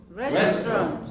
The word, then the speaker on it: restaurant: Restaurant. How many syllables? 4. Listen carefully. 3. Restaurant. 2. Say again.